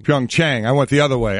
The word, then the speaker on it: Pyeongchang: Pyeongchang. It's Pyeongchang. Pyeongchang.